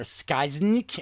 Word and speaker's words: Skyzznx: The villains are Skysnik and Ilruk. That is spelled SKYZZNX and ALRRK.